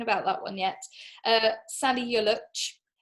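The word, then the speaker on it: Salih Yoluç: that one yet uh sally yolich i've been told that that's how you pronounce it by somebody by a turkish person not sally you look um now he has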